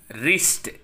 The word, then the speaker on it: wrist: It is wrist.